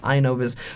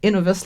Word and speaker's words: Inovus: has two ends and this has one n so i think it'll be pronounced inovis but i'm not a grammatical expert by any means so if you guys think it should be pronounced innovus let me know and